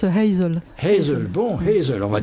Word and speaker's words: Hazel: beaucoup plus loin rassurez-vous Azel on pronce comme ça non on prononce Hazel Hazel bon Hazel on